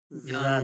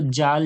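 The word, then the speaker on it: ذال: লাগিয়ে এবার বলুন আপনি আপনি জিবের আগাটা যখন উপরের দাঁতের আগায় লাগিয়ে দেবেন আপনি হাজার চেষ্টা করলেও জাল জাল হবে না জালি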